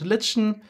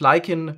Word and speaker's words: lichen: You can pronounce it lichen, which is British English, but you can also use lichen, which is American English.